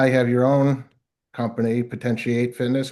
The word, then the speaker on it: Potentiate Fitness: And now you have your own company, Potentiate Fitness. Am I pronouncing that right? Potentiate fit. Potentiate Fitness. That's correct.